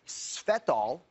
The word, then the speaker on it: Svetol: It's going to say either svetol, that's spelled S-V-E-T-O-L, or it's going to say it contains GCA, which stands for green coffee antioxidant, GCA.